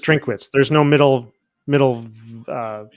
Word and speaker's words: Drinkwitz: block drink I think it's just just drink wits there's no middle middle uh syllable oh it's not drink a wits no just drink wits just like his first